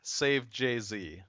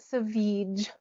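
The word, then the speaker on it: Savjz: or Save Jay-Z. Apparently neither of those are right. I'm guessing by your hysterical laughter that I am way off base. It's actually pronounced Savage.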